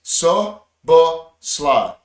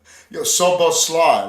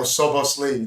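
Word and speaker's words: Szoboszlai: Martin Tyler confirmed the pronunciations of that new Liverpool player is pronounced Soboslai. Soboslav. Soboslai, like Sly Stallone. Soboslai. Yeah, or Sobosli, like that.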